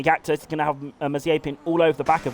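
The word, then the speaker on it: Mazepin: It's Mazapin. And it really, it really annoys me as someone that studied Russian. It annoys me when you mispronounce the names.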